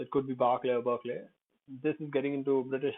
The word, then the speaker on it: Berkeley: So Berkeley, EY, Berkeley. We also have I, EYEI. So it's pronounced like that in EYE, but when at the end it's pronounced most of the time, I guess, many times it's pronounced like E.